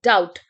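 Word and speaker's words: doubt: there is a word डाउट डी यू बी डी टी अब यहां पे जो बी है that is silent so we will say डाउट right डाउट होता है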